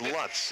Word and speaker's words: Lutz: And the official pronunciation now on Lutz is Lutz. I would have gone with Lutz too, so don't feel bad.